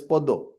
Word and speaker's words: Padma: And Padma is flower, lotus, as Poddo. So Padma means lotus.